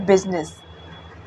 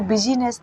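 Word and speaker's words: business: ठीक है, और आई देखो जैसे बिजनेस, इसको बिजीनेस नहीं पढ़ती, बिजनेस।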